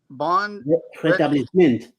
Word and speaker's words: rétablissement: Rétablissement. Rétablissement. Yeah. Quick recovery. Oh, okay. Good recovery. Okay. Who's that, Bama? That's Bama. Bon rétablissement. Oh. Most plantains are MENT. MENT is pronounced "ma" in français.